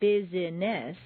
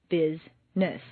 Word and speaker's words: business: syllables on page 18, some words appear to have three or more syllables, but all of them are not actually spoken. For example, business is not bizess, but rather business.